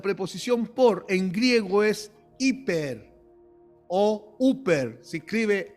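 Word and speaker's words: ὑπέρ: En la Biblia la preposición por en griego es hiper oer. Se escribe h y p e rer. O también se escribe h p e r. Uper y significa en lugar de y en nombre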